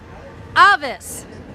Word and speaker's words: Avis: And he's going to tell us how to pronounce the spell, which is Avis, so we're going to say it. 3. Avis!